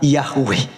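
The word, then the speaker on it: Yahweh: langit dan bumi adalah Yod he W he yang di kita kenal sebagai yahwe ya kita bacanya sebutnya yahwe Nah jadi teman-em sekalian dengan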